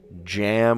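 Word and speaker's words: jamb: It's been a few weeks, like a Taj Mahal, but I I went from zest to Taj Jam with a silent B, and then I just needed the U and the P, some other letters, uh, and the N at that point.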